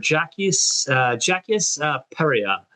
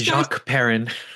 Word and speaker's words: Jacques Perrin: We also have playing the adult version of Toto, Mr. Jacques Peria. Now this Jacques Perrin. Thank you. Listen, Jacques Perrin.